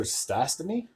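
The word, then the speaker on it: Stastny: Season assisted by Baron uh third period Spencer stasy that's how you say his name would get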